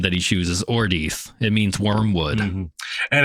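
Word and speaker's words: Ordeith: His name that he chooses, Ordeath. It means wormwood. Mm-hmm. And it sounds like Mordeth, his other name.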